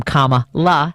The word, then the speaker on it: Kamala: and they love that it helps them remember how to say her name comma la because it's on the